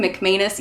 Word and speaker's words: McManus: McManus?